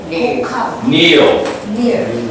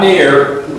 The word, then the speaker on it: kneel: kneel, not near, kneel, kneel. Kneel. I know how to spell it. Ear. Eel, Ear. eel, Ear. eel, Ear. not ear. It's an L, L, L.